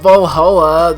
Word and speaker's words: VA-11 HALL-A: The name sounds silly and a bit hard to pronounce. Good thing it's actually called Vallhalla. The funny numbers and letters are just a code.